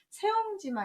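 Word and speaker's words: 새옹지마: 그래서 인생에서 좋았다 나빴다 하는 일은 예측이 어렵다라는 말 할 때 세옹지마 할 때는 세라고 읽으셔야 됩니다.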